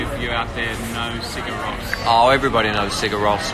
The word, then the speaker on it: Sigur Rós: Tell me about Sugar Ross. Sigur Rós. Sorry, I said it wrongly.